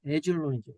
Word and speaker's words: 아얄론: 아얄론, 영어 발음으로 이제 에줄론이죠. 에줄론.